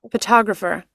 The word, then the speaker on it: photographer: Okay, Photographer. Photographer. photographer. Once again. Photographer. One more Photog time. One more time, please. Photographer. Photographer, right? Photographer. So the stress is on the second syllable.